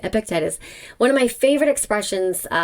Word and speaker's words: Epictetus: I've heard that pronounced so many different ways, but that is how I say it, Epictetus.